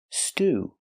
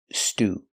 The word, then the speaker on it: stew: The word stew. Stew is a kind of soup. It usually has beef, potatoes, and other vegetables. Pronunciation, stew, using the long oo sound.